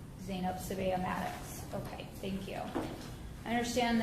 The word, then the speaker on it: Sbeih-Maddox: 665 and 635246, State of Ohio versus, I'm sorry, how do you pronounce? Sbeih-Maddox.